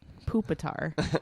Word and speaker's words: Pupitar: Pupitar is probably how I would pronounce it. Well, they pronounce it like poop, like Pupitar.